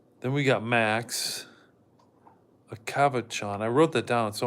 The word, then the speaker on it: Cavachon: It's pronounced Cavachon. Okay, thank you, Cavachon.